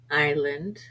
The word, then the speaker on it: island: other words like that s is sometimes silent for example an aisle debris Island chassis T is sometimes silent